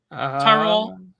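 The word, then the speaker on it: Tyrol: as in Leventi in 1793, in Tro uh to how do you pronounce that? crude Tyrell Tyrell in 1809 and in the Basque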